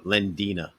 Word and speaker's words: Lendina: It's uh uh Lendina. Lendina.